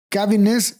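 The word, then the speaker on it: Caviness: Entonces, hasta aquí, hasta donde veo, es cuando las cosas empiezan a cambiar, porque Cavines y su equipo, sí se pronuncia Cavines.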